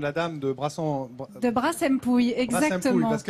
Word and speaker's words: Brassempouy: Brassempouille, parce que alors nous, on hésite, dans le Pays Basque en tout cas, entre Brassempouille et Brassempouille. Mais je crois que c'est Brassempouille. Alors moi, on m'a dit de prononcer Brassempouille, ouais. Donc ouais. Je fais exactement ce qu'on m'a dit.